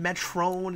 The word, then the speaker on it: Metron: Yeah, it's spelled Metron, but sometimes it's pronounced Metrone. It's weird.